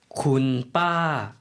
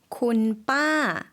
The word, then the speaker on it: คุณป้า: คุณป้า คุณป้า 마찬가지로 쿤이 들어있죠. 빠라는 거를 이제 저희가 처음 들어보았는데요.